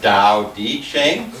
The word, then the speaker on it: Tao Te Ching: like a d like Dao D Ching but the truth is it's it's a Chinese doesn't differentiate between T and D so you really have to try to aim for it in between them that's exercise so you